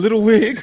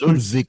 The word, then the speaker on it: Ludwig: Like, Did you call that man Little Wig? I said Ludwig. His name is Ludwig Kaiser. Ludwig. Yeah, you gotta say it like it's a Kaiser big, yeah.